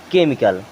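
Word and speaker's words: chemical: यहाँ देखें केमिकल भी आपने कई बार सुना होगा, लेकिन स्पेलिंग में देखते हैं CH। क्या आप कभी आपको नहीं लगा कि इसको हम केमिकल क्यों नहीं पढ़ते हैं? अब इसको हम क्या पढ़ते हैं? केमिकल।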